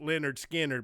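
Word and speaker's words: Lynyrd Skynyrd: skinner come down here tribute band is called pronounced leonard skinner but they spell the name right so that's animal candles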